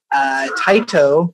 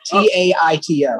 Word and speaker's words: Taito: T-A-I-T-O. I would say that's Taito. Right. I mean, if it's a Japanese company, you would pronounce all of the vowels out. So it would be Taito.